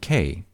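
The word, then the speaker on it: Ké: action the island of k pronounced exactly as the letter k but erroneously spelt in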